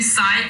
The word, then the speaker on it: psi: तो ये साई एक साइन होता है, साई, PSI, जहाँ पे P साइलेंट है, साई, ओके, ये साई